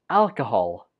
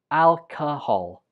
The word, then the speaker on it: alcohol: 18 is pronounced alcohol. Alcohol. Not alcohol. Alcohol. The second syllable uses the shua, so it takes a weak form. And the stress goes on the first syllable.